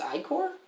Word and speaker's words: ichor: looked it up and i was like it's icore i remember that you and i remember budapest